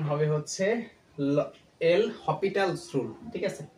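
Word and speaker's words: L'Hôpital: এটা আসলে হাসপাতাল রুল হবে না এটার সঠিক প্রোনাউন্সিয়েশন হবে হচ্ছে এল হসপিটাল রুল ঠিক আছে এল হপিটালস রুল তো এই রুলটা কখন প্রযোজ্য হবে যখন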